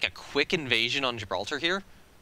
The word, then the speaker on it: Gibraltar: If we can get, like, a quick invasion on Gibraltar here, Gibraltar. Pronounce the G.